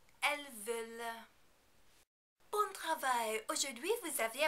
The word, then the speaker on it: veulent: Also, be very careful not to pronounce the final nt on the end of the verb. This also is not followed by a vowel and therefore is silent. Ils veulent.